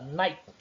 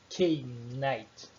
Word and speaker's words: night: A palavra night, por exemplo, ao ser pronunciada, deve-se ignorar o K e o GH no meio. O K inicial e o GH no meio. A pronúncia apenas night.